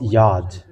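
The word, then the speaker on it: יוד: I have to teach you so that you know from today that this is Yod.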